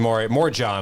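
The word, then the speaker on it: Morejón: The Adrian Morjon. I like that pronunciation, Morjon.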